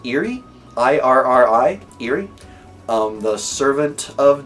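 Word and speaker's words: Irri: But I believe her name is pronounced Eri, I-R-R-I, Eri, the servant of Daenerys that gives her advice.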